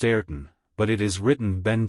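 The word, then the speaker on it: Ayrton: a mistake said the major kulie it is pronounced eron but it is written Ben Joyce chapter 41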